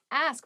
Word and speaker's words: ask: next word is ask ask please pronounce this correctly it is not a many native speakers make this pronunciation mistake and it really bothers me